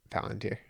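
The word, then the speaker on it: palantír: How do you actually pronounce it? Palanteer.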